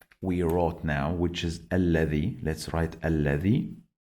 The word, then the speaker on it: الذي: Dhal is when you get your tongue out. Don't say allazi. Z is wrong.